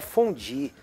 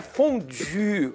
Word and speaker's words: fondue: eu avisar os brasileiros que não é fondue pelo amor de Deus para de falar Felipe só é fundir fugir em âmbito Me ajuda aí desenvolvido diretamente da Suíça pronunciam fundir corretamente e fundo é bom